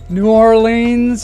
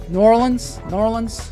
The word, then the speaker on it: New Orleans: He's coming to us all the way from New Orleans, Louisiana. I said it wrong. New Orleans.